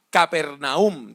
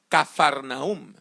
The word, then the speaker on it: Capernaum: Jesús vivía en una ciudad alrededor del mar de Galilea que se llamaba Capernaum. También se puede pronunciar como Cafarnaum.